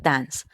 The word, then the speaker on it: dance: con este verbo regular Dance Aunque en este caso su escritura termina en e esa e no se pronuncia es decir en su